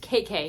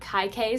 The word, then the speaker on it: Kaikeyi: First, that my friend told me that this is pronounced KK, not Kaikeyi, so yeah, KK is, that's apparently how you say it, so now I know how to say it.